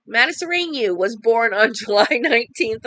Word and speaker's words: Matasareanu: Emil Matasareanu, I said it right, Matasareanu was born on July 19th, 1966 in Romania.